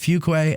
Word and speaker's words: Fuqua: He goes, it's pronounced Fuqua, and then he goes, now say it.